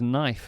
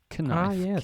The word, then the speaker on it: knife: G HT night not Gite another one is knife of course knife and fork kife k n i f e knif but it's